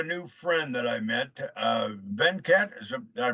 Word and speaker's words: Venkat: I've got a new friend that I met, Venkat. Did I pronounce it right, sir? Yep, it's Venkat.